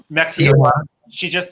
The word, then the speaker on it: Tijuana: Tijuana, Mexico. Tijuana.